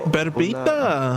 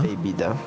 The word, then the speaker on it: bebida: Berbita. Bebida. Huh. Una bebida. Bebida, not baby.